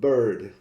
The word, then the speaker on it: bird: Let's take for example the word bird, B-I-R-D, and the word absurd, A-B-S-U-R-D. We can see that bird and absurd actually rhyme. They are pronounced the same way, even though bird has an I and absurd has a U. This is due to the sound of the semiconsonant R, which in English, especially in modern